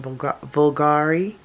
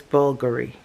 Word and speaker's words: Bulgari: So I was saying Vulgari, but it's Bulgari. The V is silent, and it has a different sound to it and all the things.